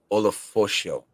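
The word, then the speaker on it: Ulofoshio: Edifwan Olafosio.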